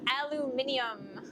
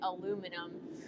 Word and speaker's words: aluminium: over there too no there is one correct way to say it it is English not American in German it is simply alumin yeah aluminium it's a fun word to say but I'm always gonna end up by default calling it aluminum because that's just you know the American mispronunciation that has become part